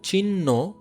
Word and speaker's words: চিহ্ন: যেমন দেখো হ এর সাথে যদি মূর্ধন্য দন্তন্য যুক্ত থাকে তাহলে এগুলো উচ্চারণ না হয়, এটা উচ্চারণ হবে ন। যেমন দেখো চিহ্ন, চিহ্ন, বন্যি, এক্ষেত্রে দেখো হ থাকার কারণে এটা ন উচ্চারণ হচ্ছে, পাশাপাশি এটা মহাপ্রাণ হচ্ছে।